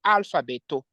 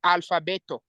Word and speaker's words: alfabeto: And in Esperanto, and as an example how to pronounce A, I say here an example, alfabeto, alfabeto. You can read alfabeto, no alfabeto, alfabeto, which means you can sound the A there inside.